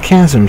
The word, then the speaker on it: chasm: No, chasm, sorry. Yes. The H is silent in chasm, folks.